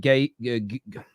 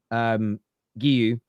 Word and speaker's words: Guiu: What are they going to do with Gay? I always keep saying his name wrong. Guiu.